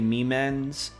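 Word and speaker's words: Miman: And I know they say Memens, but I like to call them Mimas because that's what I accidentally pronounced it as before.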